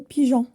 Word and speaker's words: pigeon: montagne la montagne pour que la lettre G se prononce je devant a et U donc il faut ajouter un e par exemple le mot pigeon maintenant mes amis passons